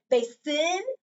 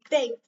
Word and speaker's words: basin: Make sure you accent because it's an open accented syllable. So if I were to say this word, would I say this word like this? Would I say basin or basin?